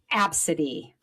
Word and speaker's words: ABCDE: How would you pronounce that? Obesity. Absid.